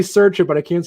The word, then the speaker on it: Sercia: You're the closest at Sercia.